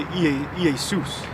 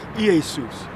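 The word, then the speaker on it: Ἰησοῦς: Because the J is a stylized I. So in the Greek, you would say Iesus.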